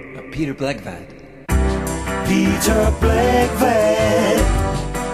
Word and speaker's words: Blegvad: then name of Peter bvat Peter black rhymes with eg b l e g v a